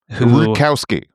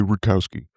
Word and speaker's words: Rutkowski: He was joined by Luke Rudkowski. Rudkowski. I think. He got corrected on the pronunciation like just recently. He finally stood up for himself and was like, It's actually Rutkowski. Rutkowski.